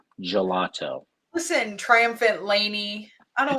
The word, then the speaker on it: gelato: gelato art of flavors yeah that's a soft g there babe gelato listen triumphant laney i